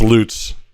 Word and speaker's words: Lutz: I was corrected multiple times. It's Lutz. Correct.